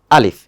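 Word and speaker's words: ألف: হরফটা আছে সেটা হচ্ছে আলিফ এইযে এইখানে অনেকে একটু কঠিন করে বলার চেষ্টা করে কিন্তু আসলে কঠিন করার দরকার নেই আলিফ এটা জাস্ট ওয়ান কাইন্ড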